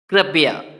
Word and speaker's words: कृपया: क्यों कृपया बोलना है, क्योंकि जो जो नीचे सी लगा हुआ है छोटा सा, ये री की मात्रा होती है, तो इसीलिए हमें री का उच्चारण करना है।